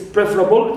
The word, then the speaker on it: preferable: So here also we have able, but the verb is prefer, second syllable, right, is normally stressed, but here with this word, the first one is stressed. It's preferable, it means pre is stressed. Here also we have shift of stress, and these four words